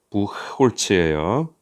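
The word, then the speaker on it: Buchholz: 부흐 아시죠? 부흐 이거 발음 어느 나라로 발음인지 딱 알겠죠? 부홀츠예요.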